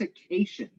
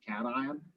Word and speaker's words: cation: somebody kept asking me what are cations and i was like what's occasion what are you talking he read this and was pronouncing it instead of cation so anyway we all